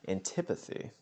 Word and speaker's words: antipathy: Antipathy.